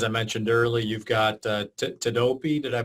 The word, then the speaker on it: Tedopi: As I mentioned earlier, you've got Tedopi. Did I pronounce that correctly?